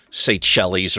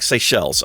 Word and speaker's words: Seychelles: was saying it was say Shelley's or something it's a it's like say shells I think is how you pronounce that beautiful makes the water